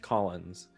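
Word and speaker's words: Caulanz: L A Believe it or not, it's European. It's just pronounced Collins.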